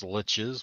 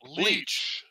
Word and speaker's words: lich: friends that pronounce lich as leech or leash. Yeah, no, Guess what? sucker. They're pronouncing it wrong.